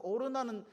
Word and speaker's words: 오르난: 오르난인데 여러분, 우리가 오르난은 잘 이게 생소한 거지만, 사무엘 하에 보게 되면 아라우나의 타작마당이라고 되어 있어요. 아라우나의. 이 아라우나는 여부스식 발음이고 뭐 이게 오르나는 히브리식 발음이다.